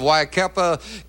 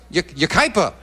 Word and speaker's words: Yucaipa: And the opening poem sent in by Ann Young of Waikapa, California, watching us on... Am I pronouncing that right? Yucaipa. Pardon me, Yucaipa. Ann Young of Yucaipa, California, watching us on KNBC.